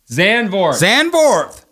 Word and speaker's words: Zandvoort: Zandvoort. How do you pronounce that track name? I don't know. PJ? Zandvoort.